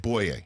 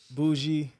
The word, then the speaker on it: Bouye: Because I think it's the most mispronounced name in the National Football League. Bouye. Bouye. Yes, sir. What's the worst botching you've heard of it? Bouye, Bouye, Bouye, Bougie.